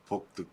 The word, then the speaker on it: pulque: How do you pronounce it again? Pulque.